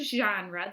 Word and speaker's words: genre: Our genre, remember when we're talking about the word genre, the G has the J sound. We call that a soft G. And genre is a French word, and it means topic.